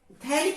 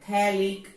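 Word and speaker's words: phthalic: ये थैलिक acid की मिसाल है, थैलिक एसिड। तो यहां पर P साइलेंट है, इसको हम थैलिक एसिड पढ़ते हैं।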